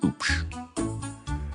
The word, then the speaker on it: Hoop: The H is silent. It's spelled H O O P. Pronounced oops.